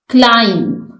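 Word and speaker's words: climb: को रीड करते हैं क्लाइम इसमें बी साइलेंट है डिजाइन इसमें जी साइलेंट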